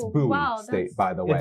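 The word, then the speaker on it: Boise: just stuttered over all the sports also it's buoy state by the way it's buoy State that's crazy because you said Mandy all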